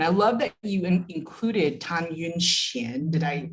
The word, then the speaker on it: Tan Yun-hsien: And I love that you included Tan Yun-hsien. Did I pronounce that?